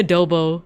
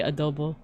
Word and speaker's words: adobo: Like I say adobo, but it's like supposed to be adobo.